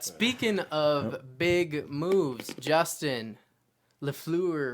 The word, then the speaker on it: Fleury: But speaking of big moves, Justin Fleury, right? Isn't that how I pronounce his name? Lafleur or whatever? What's his- Marc-Andre Fleury.